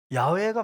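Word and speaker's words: 야훼: 그래서 성경 읽 때도 우리는 여호와라고 읽는데 그분은 야라고 읽으셨어요 야외가 맞아요 맞는데 원어로 읽은 거죠 근데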